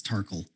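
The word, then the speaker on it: Tarkuhl: actually no it's like it's spelled like uh like sparkle but it's terkel yeah so if you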